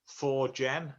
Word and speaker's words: Forkgen: presentation my name's forgin and it's pronounced four gen as in four gin and tonics if you didn't like